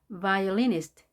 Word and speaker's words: violinist: violinist. violinist. violinist. 강세가 여기 있는 게 보이죠? violinist.